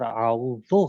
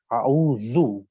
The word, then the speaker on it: اعوذ: اور اعوذ غلط ہے بلکہ اعوذ, اعوذ صحیح ہے.